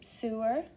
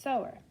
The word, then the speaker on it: sewer: actually pronounced the same sewer sower so this is spelled the same but it's not pronounced sewer it's pronounced sower s-e-w is so the